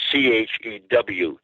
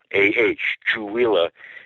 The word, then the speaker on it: Chewelah: It's spelled Chewelah, Chewelah. And people say, that's a strange name. I don't know if I can remember that. I just remember Chewbacca. Chewbacca, and this is Chewelah, and this is where